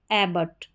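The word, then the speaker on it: abbot: यहां पर यह है ए को यहां पर ए को हमने पढ़ा ए और डबल बी ओ टी इसको बॉट नहीं पढ़ेंगे। बट करके आप पढ़ देंगे।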